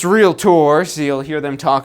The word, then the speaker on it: Realtor: so joining the Association of Realtors and it's pronounced real tours so you'll hear them talk about that all